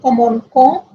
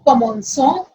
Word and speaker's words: commençons: But when we have O after C, the pronunciation will be co. So if we don't have E here, the pronunciation will be comonco ou efaco.